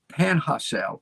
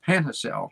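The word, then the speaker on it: Panajachel: j a c h e l pana pana panhacel panhacel my wife tells me that's how to pronounce it nicaragua three homes plus commercial space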